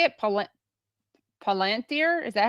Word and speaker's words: Palantir: Palantir? Is that how you use Palantir? Palantir.